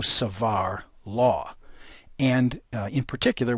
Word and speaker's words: Savart: doesn't notice too that the proper pronunciation is Bo and Savar the bo of our